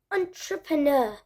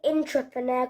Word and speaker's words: entrepreneur: of this word and it's very hard to pronounce hold on truck pronoun you can say in three parts on truck per na or for pots on on true pronoun we're not saying intrapreneur cuz it's saying entrepreneur I'm sure you don't